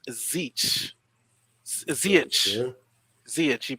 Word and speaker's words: Ziyech: Yeah, I would take Zeech over Havertz. Though Havertz is good, but I would take Zeech. Will Stewart says Zeech. Ziyech.